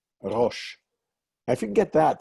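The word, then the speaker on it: ראש: Here is a word that you know probably from the name of a holiday, Rosh.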